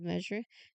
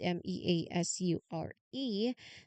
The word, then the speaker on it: measure: The initial s blends um despite the spelling having six letters m e a s u r e, the IPA shows us it only has three distinct sounds. Plus the stress mark perfectly clarifying how those letter combinations and the unique zh sound work.